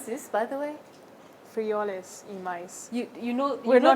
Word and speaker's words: Frijoles y maíz: How do you pronounce this, by the way? Frijoles y maíz.